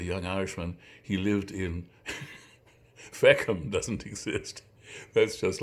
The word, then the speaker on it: Feckham: Feckham. And to feck in Irish is the way you say F-U-C-K. Feck it. The feckin' bastard. So Feckham, which rhymes with Peckham, which is a real place.